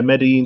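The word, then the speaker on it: Medellín: year and i think medellin i think that's how you say it medellin colombia's yeah medellin the double l is silent it's like a a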